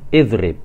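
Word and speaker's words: اضرب: Kemudian contoh berikutnya idrib, ini huruf ketiganya ra, berharokat kasroh, maka hamzah wasolnya kita baca kasroh, idrib. Jelas ya tentang bagaimana mengharokati hamzah wasol, baik itu pada isim maupun pada fi'il.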